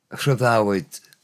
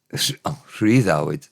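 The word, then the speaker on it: rhyddhawyd: Rhyddawyd. Rhyddawyd, the other one's saying. Normally the Y is schwa sound in the non-final syllable. Has it carried on being rhydd? Because of the word rhydd.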